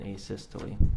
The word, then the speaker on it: asystole: to the jury uh a systole i think is called um am i pronouncing that right by the way asystole yeah yes would you spell that